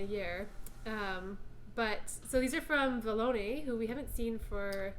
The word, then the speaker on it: Vallone: So these are from Vallone, who we haven't seen for at least a which year. rhymes with baloney. That's how I remember how to say it.